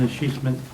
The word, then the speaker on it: escheatment: Item A, consider resolution 218 to be determined to stop the escheatment, I think you pronounced that, Oh, yeah, that's quite a word.